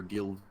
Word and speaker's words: Gill: had mentioned that the Supreme Court might hear Gill v. Whitford, and that's the proper pronunciation, not Gale v.